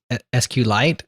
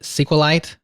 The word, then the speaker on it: SQLite: the correct way but it's actually like meteorite so it's like see you a light I can't even do